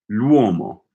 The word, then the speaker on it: l'uomo: Is this like an L and a W? So like two glides all right in a row.